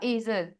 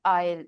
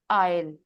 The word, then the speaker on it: aisle: इसको आपने कहा एजल, that was a nice try, but this is नॉट एजल, दिस इज कॉल्ड आयल, ठीक है? इसमें जो एस है, एस इज साइलेंट।